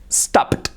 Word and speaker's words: stopped: Fijaros, se escribe stopped, but the pronunciation is stopped. I stopped here yesterday. I stopped. Wow. Now you're saying, how do I make that sound? Stop. First the P y luego la T.